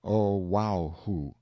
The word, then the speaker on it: Oahu: I named him after this island Oahu pronounced oh wow who the first gate he